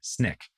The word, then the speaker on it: SNCC: He was at this time a member of the SNCC, Student Nonviolent Coordinating Committee, or SNCC, as it was often pronounced.